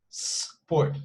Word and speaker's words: sport: So they somehow include this E sound at the beginning, which doesn't exist. So it's just sport, you see?